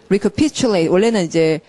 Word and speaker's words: recapitulate: 되풀이 말하면 이게 이제 강세를 이렇게 쓴 이유는, 동사일 때는 recapitulate라고, 자, 발음이 recapitulate. 원래 이렇게, 자, 보세요, 여러분. 단어가 되게 긴데 요 앞에 접도에다 강세를 찍는 경우는 결코 없어요.